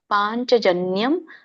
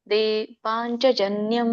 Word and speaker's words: ಪಾಂಚಜನ್ಯಂ: ಹೇಳ್ತೀನಿ ಮಾತಾಜಿ ಹೇಳ್ತೀನಿ ನೋಡಿ ಅಲ್ಲಿ ಅನುಸ್ವಾರ ಇದೆ ಸೊನ್ನೆ ಅಂದ್ರೆ ಅನುಸ್ವಾರ ಅದ ಒಂದು ಉಚ್ಚಾರಣೆ ಮ ಬರುತ್ತೆ ಪಾಂಚಜನ್ಯಂ ಋಷಿಕೇಶೋ ಪಾಂಚಜನ್ಯಂ ಋಷಿಕೇಶೋ ದೇವದತ್ತಂ ಧನಂಜಯಹ ಪೌಂಡ್ರಂ